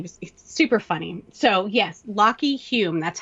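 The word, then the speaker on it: Lachy Hulme: one section he was super funny so yes lockheed hume that's how you pronounce it but it's spelled l-a-c-h-y-h-u-l-m-e and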